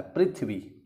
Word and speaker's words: पृथ्वी: इसका उच्चारण है प्री तो एक्चुअल में पृथ्वी नहीं होता है पृथ्वी होता है पृथ्वी ठीक है क्योंकि इसमें